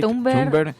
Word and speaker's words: Thunberg: No se pronuncia ni Greta Thunberg, ni Greta Thunberg, ni Great Thunberg, ni Great Thunberg, no. Se pronuncia Greta Thunberg.